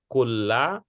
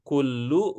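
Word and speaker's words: كلَّ: tidak ini apa dasarnya Ibu membacanya kulla bukan Qulub bukan kuli apa kira-kira tidak boleh I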